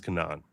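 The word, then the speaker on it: כנען: And you probably heard other people say it that way because in English I don't know how it's properly pronounced. In Hebrew the word is Cananan.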